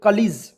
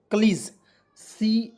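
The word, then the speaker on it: colleague: पढ़ते हैं ठीक है आप लोग क्या पढ़ते थे कॉलेजस पढ़ते थे नहीं कलीज पढ़ते हैं और कलीज का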